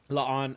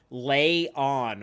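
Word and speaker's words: La'an: Well, I think you had it right, Laan. Okay. Laan. I think my instinct is to say lay on, which I know is wrong because people have told me.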